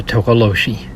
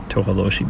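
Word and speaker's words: Tokoloshe: its name is the tokoloshi I guess I said it wrong because it says pronounced tohaloshi better although many African tribes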